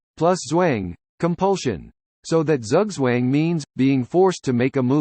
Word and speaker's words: Zugzwang: Zugzwang, German for compulsion to move, pronounced Zugzwang, is a situation found in chess and other